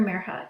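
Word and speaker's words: Mirha: is our main character merha you say her name like this mirror as in Miracle ha as in ha ha that's meriha's first day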